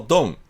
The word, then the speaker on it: Don: いうわけです例えばこの終わったっていう意味のこの単語と人の名前のドンアメリカ人の発音を聞いてみましょうダンダンダンこっちの方が長いんですよ実はこれ